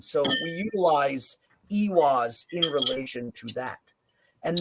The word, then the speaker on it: Eihwaz: i sound and then with ewas we see it singularly as a double e sound or utilized in the